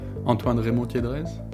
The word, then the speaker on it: Antoine Remond-Tiedrez: Antoine Remond-Tiedrez. I've tried my best to pronounce your name. Would you mind saying it yourself, just so I can hear the French pronunciation again? Sure. Antoine Remond-Tiedrez.